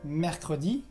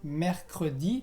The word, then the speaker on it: mercredi: También tienes el día mercredi, que igual, mercredi, tienes la C y la R antes, mercredi.